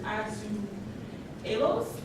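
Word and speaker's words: azulejos: their Cathedrals um they're known for tiles um pronounced as ASU alos in Portuguese um you can see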